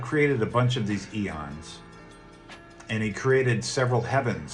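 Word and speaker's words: aeon: personified beings are called eons and it's spelled with an a AE o n but it's pronounced Eon just like the measure of time and they created a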